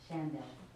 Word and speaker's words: Shandell: Is that how we pronounce her name? Shondell? Chantel? Shandell. Shandell, Mhm. okay, Shandell.